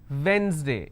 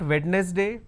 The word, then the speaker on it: Wednesday: months Sunday Monday Tuesday Wednesday it's not wetness day please don't say wetness day it's not wetness day it's Wednesday Thursday Friday Saturday the